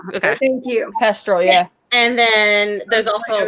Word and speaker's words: Thestral: Oh yeah, the Pestrel. Thestral. Okay. Thank you. Pestrel, yeah.